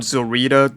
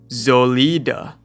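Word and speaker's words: Solitär: Okay, apparently her name's not Zorita. That's the Japanese pronunciation. And her name's actually Zolida. I believe that's how you pronounce it in German.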